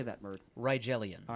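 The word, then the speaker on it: Rigellians: Ryelians. All right. The Rielians.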